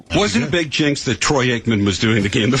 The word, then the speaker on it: Troy Aikman: Wasn't a big jinx that Troy Aikman was doing the game, the former Cowboy. I think Troy was a queer. Uh-oh. But he gets his name wrong, Troikman.